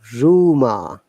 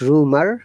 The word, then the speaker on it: rumor: rely regular okay roast look at this word rumor art should be pronounced but the last star is silent did you say rumor not rumor american will say rumor the british people will not say rumor rumor hey what's the